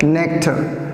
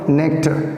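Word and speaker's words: nectar: इनका प्रोनाउंसिएशन है नेक्टर। मैं फोनेटिक में बताऊंगा नेक्टर। अब आप कहोगे मैंने इसमें र क्यों नहीं बोला? र बोल सकते हैं पर नहीं बोलना चाहिए। र में से स्वर अ निकालें, उसे बोलें नेक्टर।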